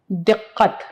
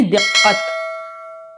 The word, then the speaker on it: दिक्कत: होती थी दिक्कत देखिए लज हम बोलते हैं लेकिन आमतौर से हम क्या करते हैं कि उसका उच्चारण बहुत गलत करते हैं क्या सही लफ्ज है दिक्कत बिल्कुल काफ से बिल्कुल सही आपने इसका उच्चारण आपके बिल्कुल ठीक है यानी दिक्कत फिर से एक बार इसको बता देती हूं और आप लोग जरूर याद करले इसको दिक्कत यहां से से आवाज निकलेगी काफ की आवाज उसकी लड़की बहुत